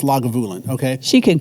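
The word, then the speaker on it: Lagavulin: You know, she pronounced it laguin, right? But it's it's pronounced lagulin.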